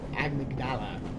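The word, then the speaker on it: amygdala: This, my friends, is an amigdala. Agnala as some of the NPCs pronounce it.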